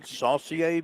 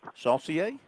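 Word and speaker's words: Saucier: the master of pronunciation saier Mississippi s a u c i e r saier Louisiana you could definitely go go French I'm not so sure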